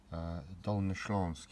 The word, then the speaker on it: Dolnośląskie: So hello today, today I'd like to take a look at this book, which is Dolnośląskie, it's pronounced.